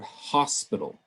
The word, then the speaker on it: hospital: at some examples here the word hospital we've got stress primarily on the first syllable but then when we